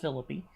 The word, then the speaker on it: Philippi: of macedonia like philippi that's right it's pronounced philippi uh berea thessalonica then